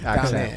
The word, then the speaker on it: Tamez: Tamez. Accent on the It's actually second syllable.